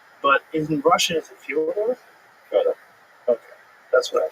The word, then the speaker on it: Fyodor: I'm like, yeah, well, that's kind of the accepted American pronunciation of Fyodor, though. So I wanted to ask you, it's Fyodor.